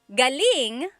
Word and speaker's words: galing: different meanings yes so galling the emphasis is on the first syllable that means coming from David Jor on Instagram just asked the same question too galing means good or great so if the emphasis is on the second syllable galing that means good or great or excellent yes as air Kevin